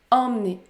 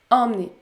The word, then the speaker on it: emmener: exemple emmené emmener emmener la lettre e est suivi par la voyelle nasale m plus par une autre qu'on sonne encore le m dans ce cas là on prononce la voyelle nasale en est emmené emmener si vous souhaitez continuer